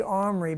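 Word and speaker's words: Omri: his mother's name was athalia the granddaughter of Armory king of Israel by the way they say omry because of Ahab was of the House of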